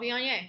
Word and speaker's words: Viognier: Is it a Viognier, Vaugner? Oh, Viognier.